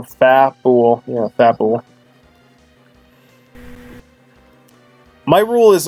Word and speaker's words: Fabul: Fat, like fat, so Fabul.